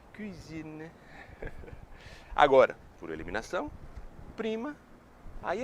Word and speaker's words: cuisine: Então sempre que for falar cozinha, alta gastronomia francesa, faz o biquinho francês, cuisine, cuisine.